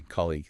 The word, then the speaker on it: colleague: The tricky part here is often the stress. Where is the strong sound? Let's say it slowly. Colleague. It's on the first part, right? Colleague, not colleague.